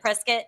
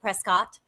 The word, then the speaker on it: Prescott: It's like some people call it prescuit and some people call it prescott and that's how you can tell if you're from here or not. Isn't it Isn't the biscuit pronunciation correct?